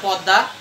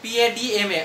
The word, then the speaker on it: Padma: দা পদ্মা, এখানে পদ্মা উচ্চারণ করবে না কেউ, PADMA, অনেকে পদ্মা উচ্চারণ করো, পদ্মা উচ্চারণ করা যাবে না।